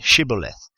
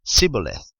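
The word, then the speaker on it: shibboleth: would say to him please say shibaleth and he would say sybileth for he was unable to pronounce it right then they seized him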